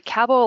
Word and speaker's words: Cabell: It's actually Cabell, like it rhymes with Scrabble.